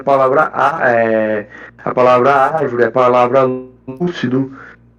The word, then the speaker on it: árvore: considerei como certo é a palavra árvore realmente é acentuada a antepenúltima sílaba tônica eh pois se trata de uma proparoxítona e a regra da